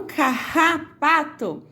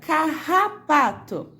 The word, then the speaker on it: carrapato: E no carrapato, observe só, repita, carrapato. Parece que o sonzinho desse Rá arranha a garganta da gente.